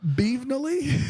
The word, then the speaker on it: Beevenly: I don't know why I thought it was Beverly. I'm sorry. You're It was dumb. an N, not an R.